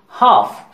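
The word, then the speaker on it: half: कुछ और वर्ड्स को देख लीजिए, फॉक, टॉक, वॉक, काफ, हाफ, इनके प्रोनंसिएशन को सिंप्लीफाई करने के लिए एल लेटर को साइलेंट किया गया है।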